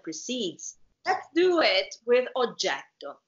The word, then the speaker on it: oggetto: If you just pronounce oggetto with one T, you don't change the meaning of the word, but it's wrong. And it doesn't sound good. Beautiful. Exactly. So let's try it. Let's try it so you can hear it. Oggetto. We can pronounce the E longer and the T, double T.